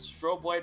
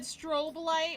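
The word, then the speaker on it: Strobelite: I put strobe I like I've heard this pronounced both ways as strobe light or strobe Elite and I'm like I don't care it's like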